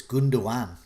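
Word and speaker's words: Gündoğan: i would probably get gunduan in i've been told not to pronounce the last g uh in the live chat so it's gunduan so hopefully i've got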